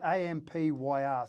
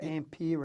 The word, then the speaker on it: Ampere: Now, you told me about Ampere. Is that how you pronounce it? I think it is AMPYR, so Ampere.